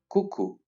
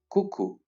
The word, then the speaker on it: coucou: Let's concentrate only on the pronunciation of these words and their usage. Now, let's learn some original greetings. Coucou. Once again, coucou.